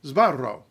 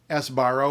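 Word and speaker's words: Sbarro: so first syllable zba you may know this from the restaurant chain zaro or as you've heard or said it s barro or sabaro English speakers have trouble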